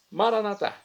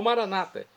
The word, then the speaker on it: maranata: mais densa para mim maranat como dizemos nós católicos vem do aramaico dialeto de Jesus ou Maranata como dizem nossos irmãos separados os evangélicos ou protestantes não importa a pronúncia o significado é o mesmo vinde Senhor Jesus um